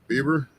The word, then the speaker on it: Bieber: ] Mountain who's going for the truck uh Bieber is that how you pronounce it yeah yeah okay Shane Bieber's actually